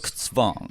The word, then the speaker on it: Zugzwang: Yes, Z or Z in German is pronounced Z. Okay. Z. Zug. Zugzwang. Suksvang.